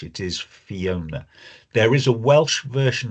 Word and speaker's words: Fiona: Um she she has some um of the Welsh language, but the the way her first name is spelled and pronounced is English. It is Fiona.